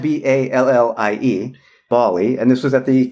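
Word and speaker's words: Ballie: No, this is spelled B-A-L-L-I-E. Bali, and this was at the keynote, and this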